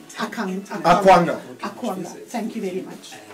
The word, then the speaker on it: Akwanga: I just want a proper pronunciation of your surname. So it's Dr. Akwanga. Akwanga. Akwanga.